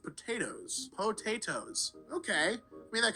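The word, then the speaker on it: Pot8os: He is now best known for the unusual spelling of his name, pronounced potatoes.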